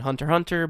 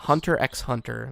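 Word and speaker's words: Hunter × Hunter: Hunter x Hunter, but I think the X is silent in the middle.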